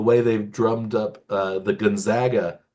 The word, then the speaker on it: Gonzaga: State pronunciation the way they've drummed up the Gonzaga pronunciation for another team up in the Pacific Northwest small school that is very strong. Like you don't see anybody say Gonzaga anymore because they Hmm.